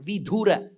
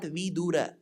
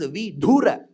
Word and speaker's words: vidhura: that widower is called vidhura now remember it is not vidura we small the vidura